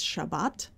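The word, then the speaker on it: שבת: or prohibition of working the word seventh sounds like the word Sabbath so that's something you can't see uh reading along in English seventh is Chev and Sabbath is Shabbat so it has the same first two main consonants I want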